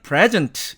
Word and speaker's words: present: 자, 그런데 이것이 이제 명사가 되면 액센트가 앞으로 이렇게 옮겨갑니다. 그래서 이럴 경우에는 present 이렇게 발음을 하는데 이 경우에는 이처럼 접두사가